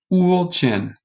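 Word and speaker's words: Ulcinj: The house is in the city of, this is a tough word, so I'm going to go here of the pronunciation key. Ulcin, in the city of Ulcin.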